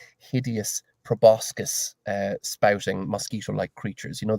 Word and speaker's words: proboscis: And inside each one of them is a tiny swarm of what looks like hideous proboscis spouting mosquito-like creatures.